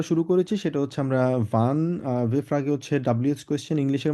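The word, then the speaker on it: wann: আমরা বলবো হচ্ছে কি ভান বলবো, কারণ আমরা ডাব্লিউকে উচ্চারণ করি হচ্ছে ভে এর মতো।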